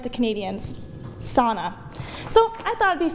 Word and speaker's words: sauna: The sauna episode was even reposted on the Embassy of Finland in the US's Facebook page. Well, sauna is one, because not everyone knows. A lot of people say sauna, but it's not.